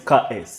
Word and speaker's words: Curtis: Okay, ladies and gentlemen, my name is Curtis. No, sorry. My name is KS. The T is silent.